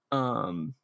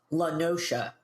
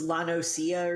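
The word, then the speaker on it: La Noscea: Lenosha. What? Lenosha. Really? Oh, is that how it's pronounced? Really? Yeah. Weird. Oh, did you think it was Lanosia or something?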